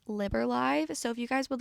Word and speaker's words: Liber: So, I also wanted to come on here and add I was pronouncing the name incorrectly. It's actually Liber.